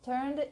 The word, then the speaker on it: turned: Turned into. So, our vacation turned. So here we don't pronounce the last E or the only E here.